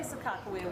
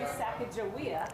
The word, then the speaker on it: Sacagawea: again and so there's a discrepancy on how to say sakakawea we grew up saying some people say sacagawea correct you're not from the area what is the proper pronunciation of sakakawea we don't know the short answer is we don't know for sure so sacagawea has been the most used version of her name for 150 years and that came from